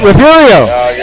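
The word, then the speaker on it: Refugio: That's it, Referio. Everybody stumbles over the G normally.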